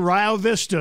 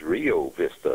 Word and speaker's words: Rio Vista: Tornadoes again did damage in Rio Vista in Johnson County. Please tell your weather people that the town is Rio Vista.